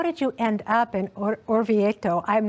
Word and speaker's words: Orvieto: What made you start thinking about this story, or how did you end up in Orvieto? I'm not saying it correctly. Orvieto.